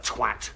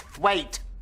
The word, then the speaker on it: Thwaite: Look, Mr. Twat. It's pronounced thwaite. Well, it's spelled twat.